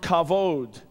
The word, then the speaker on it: kavod: How many would be willing to risk your life on the way you pronounce it? The Hebrew word for glory, many of you know, is the word kavod.